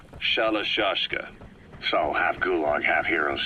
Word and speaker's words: Shalashaska: The guerrillas somewhere along the line shashka got stuck on the end of sharashka. The guerrillas were using the name amongst themselves, and by the time I got to hearing about it, pronunciation had wound up as Shalashaska.